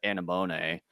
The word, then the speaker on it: anemone: For my subtitles, they called it Anemone for this week's Shocker Cyborg, or this episode's Shocker Sea Cyborg.